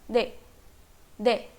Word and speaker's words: 네: Next हमने देखा था ये ने, रोमनाइजेशन देखें अगर तो इसका है ने, but what it sounds like, दे, दे, okay.